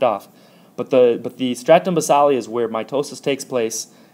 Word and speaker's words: stratum basale: weird but it is stratum basale and actually sometimes you might hear this word with a long a sound called stratum stratum basale otherwise known as stratum